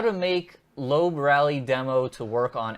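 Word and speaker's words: Loeb: uh English American and they call him Sebastian lobe yes so someone in our video that I did last week called him said it was lurb and you that that may be how he pronounces it in his native tongue but here the way that's spelled it's l so anyway um the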